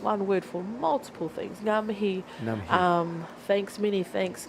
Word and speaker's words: Ngā mihi: Ngā mihi.